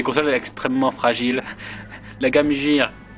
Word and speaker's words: Game Gear: La Game Gear, moi je dis Gear, vous savez, l'anglais, je prononce à la française.